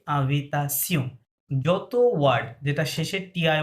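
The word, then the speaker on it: invitation: ফরাসিতে ওইটা হবে কি আভিতাসিয়ন।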